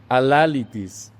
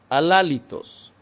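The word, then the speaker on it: αλάλητος: Alalitis, en griego moderno, se pronunciaría así. Alalitis. Algo que no se puede decir. Alálitos, no hablable, no expresable, eso no significa, inefable.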